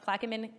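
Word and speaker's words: Plaquemines: This is the Chevron versus Pla I think it's pronounced Plaein uh Parish case.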